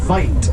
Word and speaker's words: wit: There is a word from that dialect pronounced "white," spelled W-I-T, that was loosely translated when they were named to white.